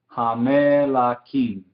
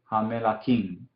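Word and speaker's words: הַמְּלָכִים: Entonces, debajo del Amen, este Shewa es vocal. Entonces se diría Hamelakim, Hamelakim, ¿sí? Un vocal, un Shewa vocal.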